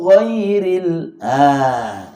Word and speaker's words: غير: Ghairil, bukan ghairi, tapi ghairil.